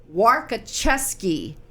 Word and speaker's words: Warkoczewski: Warkoczewski.